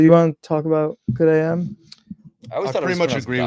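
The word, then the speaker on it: GO:OD AM: You want to talk about Good AM? I always thought it pretty was much pronounced agree with God what you AM.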